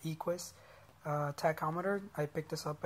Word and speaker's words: Equus: This is an Equus. I think that's how you say it, Equus tachometer.